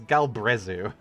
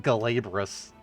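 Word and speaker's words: Glabrezu: time i butchered that it's galbrezu not glaborous i'm not drunk enough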